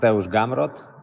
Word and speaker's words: Gamrot: hear gamrat gamrat um as long as we're emphasizing that first syllable i think i mean